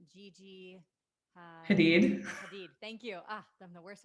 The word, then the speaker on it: Hadid: Hadid.